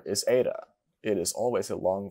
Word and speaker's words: eta: This next letter is eta. It is always a long vowel. It is pronounced like the A in hate.